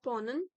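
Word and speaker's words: Ponna: Okay, second, yes, the second poet Ponam, it's Pon Pona Ponan है basically Ponan है Ponan. A will be silent. क्योंकि हम लोग English में कर्म को कर्मा बना देते हैं। सो इट्स पोनन, और मे बी आई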